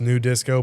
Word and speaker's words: nu disco: It's pronounced new disco.